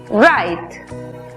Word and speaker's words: right: En la palabra correcto, que se escribe, vemos que la GH es muda antes de T. La I toma su sonido abierto. Por lo tanto, la pronunciación es right.